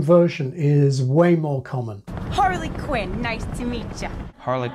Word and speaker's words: Harley Quinn: one's a bit unusual because it's a pun a play on words as a full name it's Harley Quinn but the name is deliberately like the single word Harlequin which is stressed at the beginning and some people do stress it this way the Joker